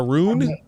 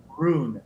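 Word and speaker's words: Rune: room which is one of the rarest bikes spell that 2022 honda roon roon r-u-n-e and that's a version of the valkyrie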